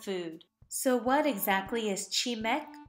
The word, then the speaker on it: 치맥: so what exactly is chimek it's the combination of the first syllable of two words chin which refers to any western style chicken and meu which means beer but when one just